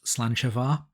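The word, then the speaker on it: sláinte: is the same as the Scottish toast slancha which is the only thing I know definitely how to pronounce in Gaelic so if it's pronounced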